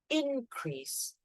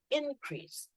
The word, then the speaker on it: increase: So what you need to remember is for a noun, typically we stress the first syllable. So when we say increase, we say increase, increase. The increase of finance this year is very disappointing. The increase, so the stress is in, okay? However, when you talk about the verb, the stress is in the second syllable.